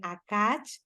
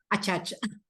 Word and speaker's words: Achach: Y pues bueno, el día de hoy estoy muy contenta porque nos visita la maestra de Acach. ¿Sí lo pronuncié bien? Achach.